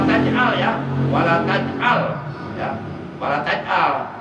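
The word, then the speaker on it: ولا تجعل: Awas, wala taj'al ya, wala taj'al ya, wala taj'al. Sebab saya pernah mendengar ada seorang ustaz bacanya wala taj'alna, itu salah. Dosa itu, sebab itu ada di Quran. Jadi wala taj'al bukan wala taj'alna.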